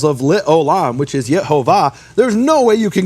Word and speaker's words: Yehovah: But he received this as a tradition, that the true pronunciation of the name is Yehovah.